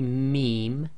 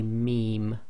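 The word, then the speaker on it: م: me ba and wow so when you say meme your front two lips come together however it's the outer dry portion of your lips that should be touching so say meme when you say ba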